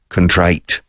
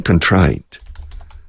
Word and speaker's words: contrite: And I'm very contrite. How do you say contrite? You say contrito? We say contrite. Contrite. Contrite escrito, contrite. Contrito, pero no se dice aquí.